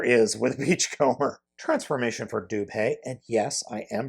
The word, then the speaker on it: Dubhe: master like there is with Beachcomber transformation for dupay and yes I am pronouncing it correctly or at least that is